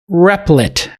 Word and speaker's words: Replit: to the podcast i'm john massad uh from replit is how you would pronounce it replied yes but it is r